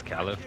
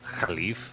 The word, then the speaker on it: caliph: So when like we would read that as Caliph, but the way they pronounce it as Khalif, they use a lot of like lazy lazy motions in your voice, in your vocal cords.